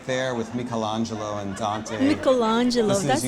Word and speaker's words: Michelangelo: we are right there with Michelangelo and Dante Michelangelo that's how you pronounce this is your moment with Florence wait